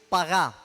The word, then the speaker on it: pagá: Y otra de las definiciones hebreas es pagá. Pagá, no sé cómo se pronunciará, pajá se debe pronunciar, pero se escribe como pagá si me está debiendo algo. P-A-G-A, con acento en la última A.